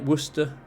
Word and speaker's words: Worcester: Chester um there's also places like Worcester which is spelt War Chester but people got bored of saying the Chester so they they sort of cut it off um there's yeah so